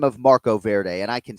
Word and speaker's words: Marco Verde: It's our pronunciation of the week. Marco Verde Canflow.